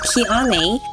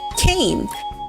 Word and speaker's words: Kian: It looks like Kiane, but it's actually pronounced Kane, like the pepper, or Kanye, or Wyoming without the H, Y, or Yoming.